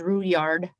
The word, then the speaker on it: Rouillard: My aunties corrected me and said it's the French Indian pronunciation, which is Rouillard, and then my married name is.